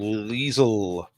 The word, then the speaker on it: Liesl: name zero seconds left she's called liesl rhymes with diesel now you're sucking diesel eight points if you've got liesel two last questions nine